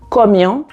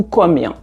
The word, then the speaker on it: Komian: En langue à campan et plus particulièrement en annie ou en baolé, ce vocable se prononce de deux manières : comien ou comien.